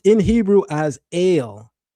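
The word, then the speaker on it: אל: And that's pronounced in Hebrew as ale. Not even L. Some people say L, but it's actually pronounced as ale. As in you go to the store and you buy ginger ale.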